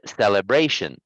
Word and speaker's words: celebration: um it's not celebration the stress of your voice should be on that sound actually that we're practicing today so it's celebration celebration you need to stress that sound so the first sound is going to be low it's a low sound like this so all of those so it's celebration celebration celebration there you go nice that's much better the liberation all right